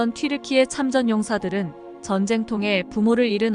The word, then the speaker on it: 튀르키예: 여기에서 튀르키예 국호 유래에 대해 정보를 알려드리겠습니다. 이미 아시는 분도 많으시겠지만 튀르키예는 우리가 지금까지 불러왔던 터키입니다. 튀르키예라는 국호가 영어권에서 터키라는 발음으로 하게 됐는데, 터키는 영어로 칠면조를 뜻하고 겁쟁이,